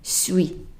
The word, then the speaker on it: suis: And then the next word, S at the end, silent. The UI is a oui, suis, je suis.